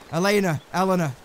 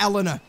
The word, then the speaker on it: Elena: So it is Elena, not Elena. Elena must be a different name altogether.